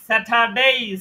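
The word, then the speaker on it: Saturday: স্যাটারডে বলতেছেন স্যাটার না র এর উচ্চারণ হবে না এখানে স্যাটার স্যাঠা স্যাঠা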